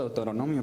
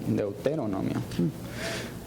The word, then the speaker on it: Deuteronomio: versículo de autonomía 65 yo digo de autonomía pero se pronuncia del deuteronomio pero no mios 65